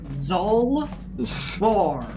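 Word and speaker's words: Zaalbar: Zar the Wie zarb that is so far off of his name it's two syllables z bar Zar Z sucks does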